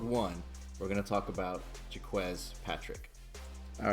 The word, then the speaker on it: Jacques: down in episode one we're gonna talk about jacquez Patrick all right here we go so our first pick Mr jacquez Patrick and yes it's pronounced jacquez when I first saw it I thought it was Jacquees I'm wrong it's pronounced jacquez all right but